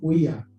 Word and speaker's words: Oiá: Em português, a gente pronuncia como origem queto, né? Oiá. O Y se torna I.